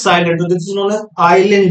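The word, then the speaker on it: Iselin: this is known as Island disease Island disease ISC l i n s is silent now what is the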